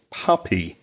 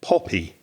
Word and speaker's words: puppy: word i noticed was puppy which is a small dog isn't it a baby dog but you pronounce the word with the o sound you said poppy now poppy if you